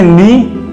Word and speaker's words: knee: घुटने को हम इंग्लिश में कहते हैं नी। के साइलेंट होता है इसमें KNEE।